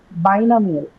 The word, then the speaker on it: binomial: Next, binomial. Four syllable. Binomial. 4 syllable. Okay. Tell me what are the 4 syllables. Why, no, me, al. Why, no, meal. So you have a by, no, me, and al.